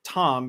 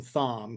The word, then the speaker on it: Thom: Um and I think Fred is pronouncing it Tom because that's what it is. And Howard's an idiot. So when he brings the guy up, he calls him Thom cuz he thinks it's literally, you know, pronounced with the th sound.